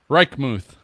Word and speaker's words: Reichmuth: How do you pronounce his last name? Reichmuth.